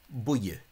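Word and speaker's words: buí: So if you're in this one of the 6 counties, pronounce the word buie with 2 syllables.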